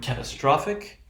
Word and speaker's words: catastrophic: penultimate syllable is stressed this time it is the third syllable so the third syllable receives primary stress okay now the thing